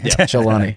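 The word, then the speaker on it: al-Jolani: got read it Al Jabari Abu Muhammad Al jalani Jal not Jabari jalani jalani jalani Karim Abdul Jabar ALB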